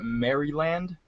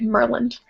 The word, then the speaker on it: Maryland: You know, I made a video and I called it Mryland. Yeah. People always like pronounce the Y. It's just Mer like Merland.